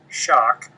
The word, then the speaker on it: Schoch: my website my personal website is www Robert shock and my last name is spelled s h o c so it's r